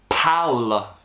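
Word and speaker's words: Paal: QPR, Pal. P-A-A-L. Pal? I don't know, we'll put it up on the screen somewhere there or there. You probably pronounce it Paul. Paul, probably.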